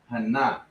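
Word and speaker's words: חנה: ah right and then you got ha na it's like hannah right hannah the proper way to pronounce it right now behold i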